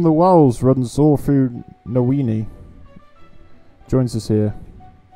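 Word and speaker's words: Niwen: The light from the wells runs all through Nowini. Joins us here. Nywin. I think it's Nywin actually, how you pronounce it.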